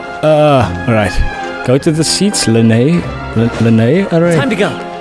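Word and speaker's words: Lyney: Thanks, Lenny. Don't mention it. There's no need. It's pronounced Lene.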